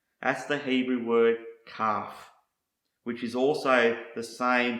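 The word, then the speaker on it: כף: next word I want to show you is pronounce calf and this is the same word pronounced the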